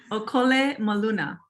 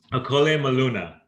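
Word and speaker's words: ʻŌkole maluna: Okole maluna. Okole maluna.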